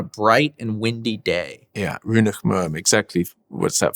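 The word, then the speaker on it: rionnach maoim: Runach Muam. Oh, Runach Muam. And you pronounced it pretty well.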